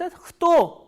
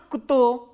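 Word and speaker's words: кто: please see here क एंड त together are pronounce एतो नॉट कुतो you have to remember this thing and ख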